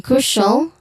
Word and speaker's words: crucial: And then crucial. It has a stressed syllable in the first one, cru, which has a long u sound. Crucial.